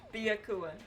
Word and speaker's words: Byakuya: Byakua. Alright. I need one ear. Thanks, bestie. Alright, there we go. Baya is one syllable instead of two, so Bia, but you're saying it fast.